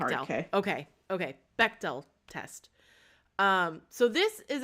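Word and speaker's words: Bechdel: The Bchdell test. Uh, Beckell, it's pronounced like a hard. Okay. Okay. Bectell test.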